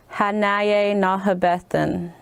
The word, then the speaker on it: Hanaye Nahabethan: In Arapaho, it is good to see you would be Hanaye Nahabethan. Woo! Now we got syllables. Now we got 5-6 syllables.